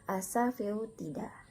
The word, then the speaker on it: Asafoetida: Kemudian ada Asafoetida dibaca Asafoetida.